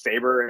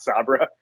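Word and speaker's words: Sabre: and then by the end of it, they realize that it's pronounced Saber and not Sabra.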